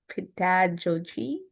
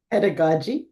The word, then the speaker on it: pedagogy: recent work has focused on evidence-based um I don't know how to say this pedo how do you say that padogi pedagogy pedagogy sorry a development of doctoral students and uh innovative mentoring strategies her book teaching psychology and evidence-based approach with co-authors Dr.